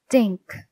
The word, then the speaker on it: Dink: Dink, Sammy repeated. That rhymes with think and pink and stink.